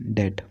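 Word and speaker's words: debt: ठीक है, इसको डेट पढ़ते, कुछ बच्चे डेप्ट पढ़ते हैं वो गलत पढ़ते हैं, ठीक है ना, इसका प्रोनाउंसिएशन होता है डेट।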